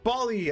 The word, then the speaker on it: Bali: It's Bali as in ball. As in kick a ball.